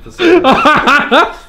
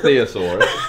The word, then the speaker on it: thesaurus: Well, how is religion and thesaurus? It's thesaurus as well, not theosaurus.